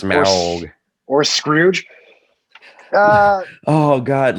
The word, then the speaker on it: Smaug: That's how you pronounce it, Smaug.